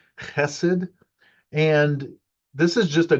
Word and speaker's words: chesed: Um, the word, it's chesed. It's a rough, gravelly H sound at the beginning, chesed.